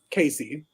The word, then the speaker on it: Cayce: those who know me my name is spelled c-a-y-c-e casey weird spelling you can thank my